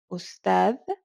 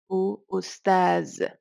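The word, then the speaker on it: أستاذ: So there would be people saying ustad, ustad, ustaz.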